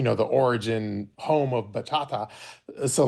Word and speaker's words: bachata: Well, in her defense, I also cannot pronounce it. So, it's bachata.